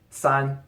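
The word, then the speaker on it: 三: also going to include two R and three son for obvious reasons but no the number four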